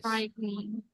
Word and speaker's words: frightening: Cry eh scrying frightening everybody frightening fright frightening yes so we don't say don't say frightening no only two syllables we only say frightening like this frightening frightening like that the